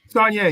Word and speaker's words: Saulnier: Yeah, and Coach, it's Saulnier, right? Saulnier, yes, sir.